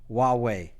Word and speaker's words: Huawei: Nick dev YC and somebody said I should pronounce it Huawei so I have a bottle of louis xiii saving for a rainy day so yes i discussed why way last week and that